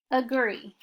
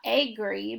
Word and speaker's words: agree: No, it's the same with the word agree. It's not agree, but agree.